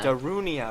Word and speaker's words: Darunia: Someone pronounce Darunia. Darunia.